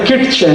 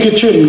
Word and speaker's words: kitchen: एक शब्द है किटचेन, KITCHEN, कहते नहीं किचन किचन किचन, फिर KIT क्यों लिख रहे हो, टी साइलेंट है क्यों लगाया, हटा दो।